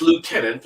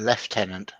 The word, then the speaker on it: lieutenant: the colonials carry on it's lieutenant or none of this language or learn how to spell it correctly and you're talking about the british uh officers it's a lieutenant thank you is there an f anywhere in lieutenant show me the w